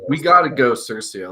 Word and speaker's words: CIRCIA: Is it Circia? Have we spoken? I think it's Circia. I think we're going to go on record as Circia. We got to go Circia.